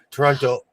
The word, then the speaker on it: Toronto: like they're just um especially on the east coast I noticed that we don't pronounce the last T. Toronto.